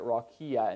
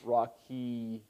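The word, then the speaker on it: רקיע: in rakia yahir rakhiya why am i pronouncing it rakia instead of rocky well the silent ion but what's that that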